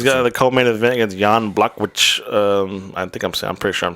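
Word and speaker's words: Jan Błachowicz: He's got the co-main event against Jan Blak, which I'm pretty sure I'm saying it wrong.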